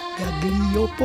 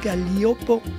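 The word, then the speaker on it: Gaglioppo: Galliopo, on prononce Galliopo.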